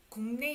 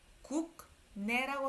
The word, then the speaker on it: 국내: 이거를 발음을 할 때 국내라고 하지 마세요. 국내. 국내. Naturally.